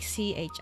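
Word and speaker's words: ち: but it is pronounced like chi, not t, right?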